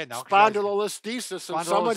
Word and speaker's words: spondylolisthesis: Spondylolisthesis.